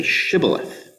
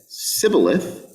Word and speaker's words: shibboleth: he said no they said all right say shibboleth if he said sybileth because he could not pronounce the word correctly they seized him and